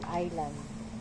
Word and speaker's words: Island: s yan dapat hindi kaya nga silent s ibig sabihin hindi mo babasahin yung s sa pagitan ng I tsaka L Island ganon pag marami Islands